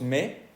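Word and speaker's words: mais: pronunciar la i Ok acá no se pronuncia si decimos me no escuchamos ni la y ni la s verdad en la otra se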